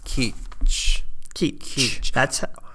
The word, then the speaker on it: Kizh: I'm gonna spell it the way that I saw that it should be said. Kizh.